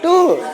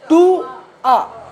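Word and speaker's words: tour: चलो उच्चारण करो इसका। टूर अभी कहां गए थे अभी? बस सर टूर गलत हो सालो।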